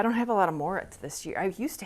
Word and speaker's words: Moorit: knows what that is Moret is Shetland e for brown and it's actually pronounced morit or something like that so I coat the